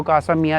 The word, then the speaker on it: Casa Milà: जैसे मैंने आपको कासा मिया दिखाया, उसका नाम MILA है, बट एल साइलेंट है।